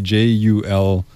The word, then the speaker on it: Jul3ia: Jul3ia is spelled with a silent 3, Jul3ia.